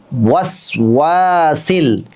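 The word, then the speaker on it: الوسواس: এবার বলুন ওয়াসওয়াসিল। আবার ওয়াসওয়াসিল। যখন ওয়াও বলবেন তখন ঠোঁট একেবারেই গোল করবেন, যত বেশি গোল করবেন উচ্চারণটা তত বেশি শুদ্ধ হবে।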